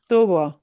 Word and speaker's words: tubo: Tubo, Tubo.